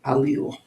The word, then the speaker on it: allele: That is some Scrabble tiles with a word from biology, genetics, actually called allele, pronounced allele.